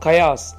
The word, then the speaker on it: chaos: கயாஸ் ஈகை மாதிரி ஏதாவது ஒரு வேர்டு, அப்படி கிடையாது. கயாஸ்னால் என்ன அப்படின்னா ஸ்பெல்லிங் சொல்கிற பாருங்க, CHAOS. அதை கயாஸ் நம்ம ப்ரொனவுன்ஸ் பண்ணணும். இது ரொம்ப ரொம்ப பர்மனண்ட்டாகவே இருக்குது.